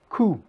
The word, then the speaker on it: coup: in the English language qui montre comment le prononcer : "coup". that shows you how to pronounce it: "coup".